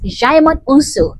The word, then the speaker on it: Djimon Hounsou: And neither can I pronounce it. His name is Djimon Hounsou.